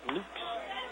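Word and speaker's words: Loux: game for the or luke's excuses to me is how they pronounce luke's as a soft drive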